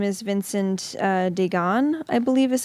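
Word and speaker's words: Deighan: there's spring quietly his real name is Vincent Dagon I believe is how you say it and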